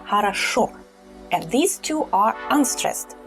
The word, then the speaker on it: хорошо: Well, here the ending is stressed. That is why we pronounce it strongly, хорошо.